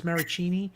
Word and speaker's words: Maracchini: I'm doing a match game against, and I know I'm going to say his name wrong, I want to say Maraschino Cherry, but it's Maracchini, who does Womp Rat Radio.